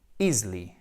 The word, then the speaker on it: easily: Je répète, this disease could be easily, alors pas easily, faites bien attention, là, ce n'est pas un I, c'est un E atténué. Easily, cured, guéri.